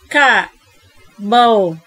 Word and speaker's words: carbohydrate: Carbohydrate. Carbohydrate. Carbohydrate. Cái chữ bờ này nè, cái chữ bâu này nè, bạn đọc là bâu hoặc bạn đọc nhẹ nhẹ là bơ cũng được nha.